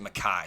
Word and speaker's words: Micah: that their running back it's spelled like Micah Bernard like m i c ah but they everybody keeps everybody says it maai so I guess I'll call him maai Bernard maai Bernard is